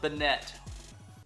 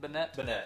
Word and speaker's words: Banette: crazy um it's really cool and then uh Bennett that's how you say it Banette yep all right let's get Gardevoir sleeved up